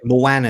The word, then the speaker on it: Moana: Moana is the right way to say it.